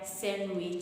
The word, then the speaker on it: sandwich: Grand but grand mother just like in the the word sandwich sandwich not sandwich sandwich which okay the other one